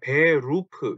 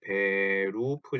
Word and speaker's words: Berufe: 자, 요거 가지고 발음을 되게 좀 힘들어하세요. 왜냐하면 요 독일어의 R 발음이 때문인데요. 이거를 어 일단 원형은 Beruf죠. Beruf 요렇게 써 놓고 나서 이거를 읽어 보세요 그러면 Berufe 그 우리말로 치면 Berufe 정도 되겠죠. 요 루 때문에 많이들 어려워하시는 거예요.